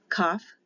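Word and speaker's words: kaf: so it would be without the dot it's a k h with the dot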